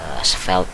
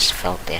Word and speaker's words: Svelte: ada pemain baru nih, Svelte. Ini kok nggak salah bacanya Svelte ya, atau kalau lidah Indonesianya Svelte lah gitu kan.